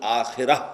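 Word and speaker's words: آخرة: ہم آخرت کہتے ہیں، عربی میں اس کا تلفظ آخرہ ہوگا۔ اس آخرہ کے مقابلے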